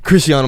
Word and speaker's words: Chrisean: It's like Chris Sean. Chris and then Sean.